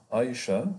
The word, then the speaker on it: Aïcha: Aïcha, it's the pronunciation of the French language. A-I, here Aïcha, but in Arabic we say Aïcha or Aïcha.